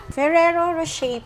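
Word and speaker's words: Ferrero Rocher: Anong pronunciation nito? Ferrero Rochet po.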